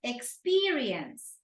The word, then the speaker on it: experience: cashier no cashier right experience experience exerience right three syllables the second one is stressed um pronunciation advisor right